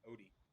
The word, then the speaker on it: Ote: Then again, my last name looks like Ote, but it's pronounced Odie.